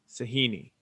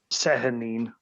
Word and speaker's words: Sehanine: Sahini. Is that how you say her name? Sehanine, Sehanine is how I.